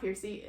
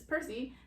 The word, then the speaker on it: Percy: a name that I've always said Percy, and apparently it's not Percy, it is Percy.